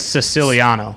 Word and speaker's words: Siciliano: Do we know exactly how to pronounce his name? I'm pretty sure it's Siciliano. Yeah. Siciliano. Yeah. Oh, so the emphasis is a little different than we've been saying, right?